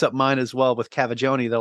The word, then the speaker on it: Cavaggioni: A lot of people mix up mine as well with Cavaggioni. They're like, you're trying to figure out how to say it. And I'm like, it's said exactly how it's spelled.